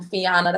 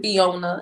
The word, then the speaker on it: Fianna: and last name um fianna they pronounced my name because people pronounce it fiona and i don't see